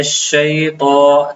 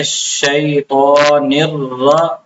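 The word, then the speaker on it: الشيطان: त में होती है त को बाज लोग मोटा नहीं करते इसको ता पढ़ लेते हैं। इसको मोटा करके पढ़ना है। मिन शैत मिन शैतान ता गलत है। ता पढ़ना बिल्कुल गलत है।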